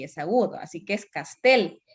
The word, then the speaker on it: Castel: dijeron bien otros no es juan pablo castel porque es una palabra aguda si bien es cierto no tiene tilde porque puede ser que las ayudas se tildan cuando terminan en n s o vocal i castell termine en l entonces no está tildado pero si es agudo